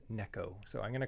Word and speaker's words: Neko: like oh it's pronounced Nico rig I'm sorry my friend it's a Japanese technique and the Japanese people they pronounce it Neko so I'm going to